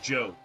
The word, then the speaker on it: Job: Also, why is his name pronounced Job? It's spelled J-O-B. That fucker's name is Job.